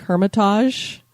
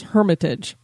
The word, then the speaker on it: Hermitage: it was something like Hermitage. I was going for more of a French sound or something. I don't know what I was doing, but I believe the correct pronunciation is Hermitage.